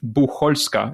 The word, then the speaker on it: Bucholska: It's Bucholska, CH Bucholska. It's a weird one, I have to admit. It's not, most people don't remember how to pronounce it, and I have to accept that.